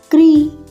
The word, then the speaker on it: कृ: क में री ह्रस्व ऋकार की मात्रा हम लगाएंगे इस प्रकार से, क लिखेंगे और इसके नीचे ये री की मात्रा है आपकी, आपने याद रखना है। और उच्चारण कैसे होगा क्री।